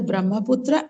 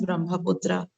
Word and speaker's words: Brahmaputra: Further east lies the Brahmaputra and its tributaries.